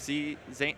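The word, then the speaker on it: Zain: His like actual pronunciation is like more like Zen.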